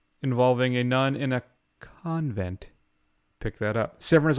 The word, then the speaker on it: convent: The word is pronounced convent. It's pronounced coven. The password is convent.